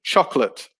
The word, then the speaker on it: chocolate: disappears it becomes government number three chocolate so it only has two syllables so the middle o